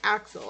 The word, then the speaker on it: Axel: So his name is Axel, and I've been calling him. Sorry, Axel. So yeah, this is Axel, not.